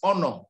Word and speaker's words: honor: The third is honor. These 3 words are the ones where you don't pronounce H. The rest, you must pronounce H.